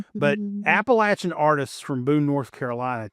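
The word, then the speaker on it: Appalachian: Uh and we have established on this show that it is pronounced Appalachin.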